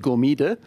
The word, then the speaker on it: Gomide: a hot second so i would have just said gomida but yeah we have this this accent yeah sounds much much